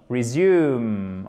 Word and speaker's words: resume: Resume, ok? Accent tonique sur la deuxième syllabe.